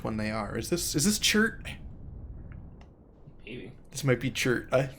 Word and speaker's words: Chert: I need to find Chert's voice. I don't think I have it right now. Because name's Chert. Rhymes with dirt, as all things should.